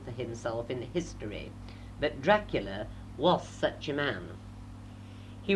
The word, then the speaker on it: Dracul: The Romanian word for dragon happens to be Dracul, pronounced Dracul, and the order's escutcheon showed a cross beneath which hung a dragon.